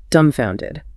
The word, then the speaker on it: dumbfounded: Number seven, dumbfounded. Dumbfounded. Dumbfounded. And remember that silent B, right?